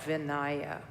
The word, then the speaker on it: vinaya: and then the uh vinaya which is spelled v-i-n-a-y-a or some people call it vinaya vinaya or vinaya which is monastic discipline